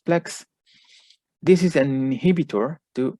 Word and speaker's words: PLX: we used pharmacological agent called plx which that i will from now on pronounce as plex this is an inhibitor